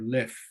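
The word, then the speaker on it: Löw: Maharal is an abbreviation of Morenu, our teacher, Harav, the rabbi, Lau, or Lef, as they pronounce it here.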